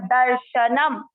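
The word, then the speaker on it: दर्शनम्: द श पर जो मात्रा है वो है आधा र, इसको राइट साइड में देख सकते हैं, आधा र और श पूरा। दर्श न पूरा आधा मत, दर्शनम।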